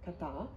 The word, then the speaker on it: kata: è questo questo kanji che significa che si pronuncia appunto katà è formato come vedete da tre parti sul